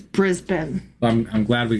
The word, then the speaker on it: Brisbane: And also, um the the city of of Brisbane, it's not pronounced Brisbane, even though that's how it's spelled. It's Brisbane.